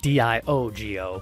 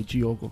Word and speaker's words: Diogo: It's spelled D-I-O-G-O, yes. Friends here, and kind of might sound like Diogo, maybe, but in Portuguese, for Brazilians, they do the D-I with the G sound.